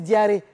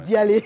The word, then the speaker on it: Diaré: Tu sais que j'entends les gens dire Idriss Diaré. Alors que c'est Dialé.